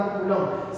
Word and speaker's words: Coulomb: दूसरा इसको मैं क्या बोलूंगा, कूलम, COULOMB। बच्चे इसके स्पेलिंग में गलतियां करते हैं, ठीक है, और T यानी not temperature, this is the time.